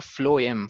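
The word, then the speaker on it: phloem: एफ से food है तो फ्लोएम, फ्लोएम में भी एफ से प्रोनाउंसिएशन शुरू हो रही है, तो ऐसे याद रख सकते हो, फ्लोएम।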